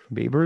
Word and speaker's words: Baber: I don't want to say it wrong. Baber is the right way to say it.